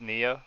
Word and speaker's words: Nya: It's spelled Nya, but it's pronounced Nia.